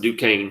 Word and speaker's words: Duquesne: call it fort duquesne that's not for just questioning it's called it's pronounced duquesne i guess you were